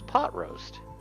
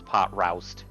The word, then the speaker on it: Pot Roast: And Mercenary A, which is, of course, Pot Roast. I always, as a kid, mispronounced his name as Pot Roust. Because R-O-W. Well, I mean, that's what it looks like, but...